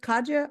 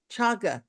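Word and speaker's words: cāga: be mispronouncing it is is it uh kaj that how you pronounce it Kaja or chag chaga it's c a g yeah and CH this one chaga chaga okay so chaga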